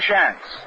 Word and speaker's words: Shantz: Mother Shantz, S-H-A-N-T-Z. And Art explained to you a little while ago the difference between Shans of Boston and Shantz of Philadelphia.